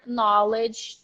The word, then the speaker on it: knowledge: it's so hard right the verb is pronounced no but the noun is pronounced knowledge repeat after me knowledge